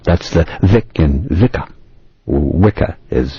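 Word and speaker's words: Wicca: for religious worship that's the Vic and vika wika as it's pronounced today implies a woman supposedly having Supernatural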